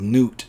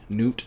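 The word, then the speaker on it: Gnut: movie, but is called Newt in the book here. G-N-U-T. Newt, Nut, I don't know. I assume the G is silent.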